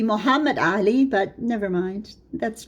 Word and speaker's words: Muhammad Ali: and his powerful vassal, Mehmed Ali of Egypt. That's the Turkish pronunciation. You know, the Ottoman Turks, they don't really have an inclination to pronounce Arabic properly. So it should be Muhammad Ali, but never mind.